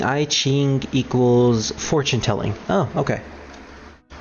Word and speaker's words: I Ching: apparently druid found a full wiki article on ai ching uh oh it's actually pronounced yi jing usually translates as book of changes or classic